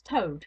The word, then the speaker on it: Tode: He pronounced the word as though it had been the name of the foul beast that squats on its belly.